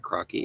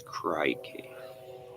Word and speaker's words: crikey: It's not crocky. It's crikey. It's like crying with keys.